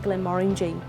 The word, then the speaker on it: Glenmorangie: And the correct way to pronounce Glenmorangie is, think about this, is it's the orangey in Morangie that makes it Glenmorangie.